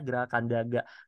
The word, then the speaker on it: Graha Kandaga: Ya, mungkin penulisannya GRHA ya gitu ya. Bacanya Graha Kandaga.